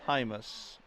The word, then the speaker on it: Hymas: No, you pronounced it right, because I checked with somebody from East Troy at the start, and it was Hymas.